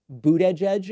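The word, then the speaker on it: Buttigieg: his last name and he came out and said it's very easy it's three words boot edge edge and so i've just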